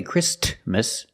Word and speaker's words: Christmas: Christmas we don't say Christmas the t is between con so it is silent link the sound s with the m christm Christmas Christmas and